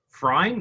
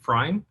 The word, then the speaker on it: Freyn: Is that how you pronounce it? Is it Freyn? I would actually say Freyn, but Freyn? yeah, but it's okay. You can just choose what you want. I'll go with Freyn because that's how you correctly pronounce it.